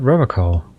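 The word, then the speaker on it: Revachol: He pronounces Revocol with a hard K, unlike other people. Serious question time. This man is no innocent. No one is. Interesting. You said Revocol.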